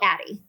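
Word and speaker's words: Addyi: So I anyways I started her on a medication called Atti.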